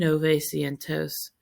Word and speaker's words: novecientos: And nove cientos is 900. So instead of nueve, we're just like, oh my gosh, so many syllables. Get rid of those syllables. So we got rid of the extra syllable.